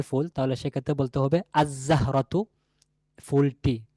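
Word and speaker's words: الزهرة: যদি আমরা বলতে চাই নির্দিষ্ট একটি ফুল, তাহলে সেক্ষেত্রে বলতে হবে আজ-জাহরাতু, ফুলটি। ঠিক আছে, আজ-জাহরাতু, ফুলটি। তাহলে এখানে লামের উচ্চারণ আসে নাই।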